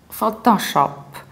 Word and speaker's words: Photoshop: can say photon bus in English we say photo so you need to round two syllables photo photo that's why you say Photoshop Photoshop and you might start